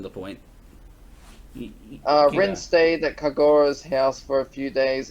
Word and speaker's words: Kagura: Kagura. Kagura. Yeah, with Japanese names you sort of spread... You say each syllable separately most of the time.